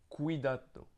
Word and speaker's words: cuidado: Il y a une autre façon de prononcer le C qui est le K en fait, comme on prononce un K avec notre C à la française.